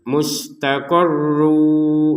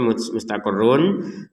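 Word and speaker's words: مُسْتَقَرٌّ: Mustaqarru, nah, tertulisnya mustaqarrun dan di depan ada huruf wawu maka dimasukkan ke huruf wawu terbacanya mustaqarru, didengungkan jangan lupa.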